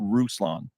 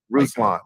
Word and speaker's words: Ruslan: Ruslan. Ruslan. Like Tucson or Yukon or Futon. Ruslan.